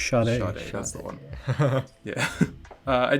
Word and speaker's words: Sade: Sade, that's the one.